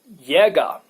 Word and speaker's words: Jäger: And in German, its pronunciation is Jäger.